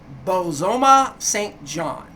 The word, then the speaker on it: Bozoma Saint John: Bozoma Saint John.